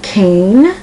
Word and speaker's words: Cain: name is spelt C-A-I-N, and that I tells you with the A that the A is pronounced like a long A. Cane.